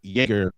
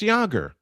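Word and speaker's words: Jaeger: Uh, I kept pronouncing like Jagger. I first saw it. Yer, I thought it was Jagger, too. I thought it was Jagger. I thought I would have kept saying Jerger. Well, somebody finally got it right and said, "Snow, it's Jogger." What? It's Yoger. Like Joerger.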